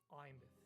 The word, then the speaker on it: Imeth: Oh, by the way, if you're having trouble pronouncing her name, it's just Imeth.